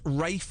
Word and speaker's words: Ralph: It's spelled R A L PH. Ralph. Ralph. So So it's Rafe MTEL, is it? No, cuz he's not a posh Ralph.